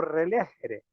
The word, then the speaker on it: relegere: o religarse, religare o relegere. Relegere. Creo que le pongo bien el acento, porque en latín no lleva tildes y siempre es un complique.